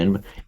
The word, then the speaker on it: est: the re on the end, esse, to be. And in Latin, it is est, which is directly cognate with the Sanskrit asti. And in French, it's written the same, but it's just pronounced e.